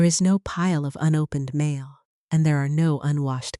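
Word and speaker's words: 間: Ma, pronounced as ma, is the space between things, kept not out of a lack of items, but out of intention.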